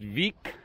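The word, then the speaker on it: Vík: is very close to week VI K pronounced week Iceland a tiny little town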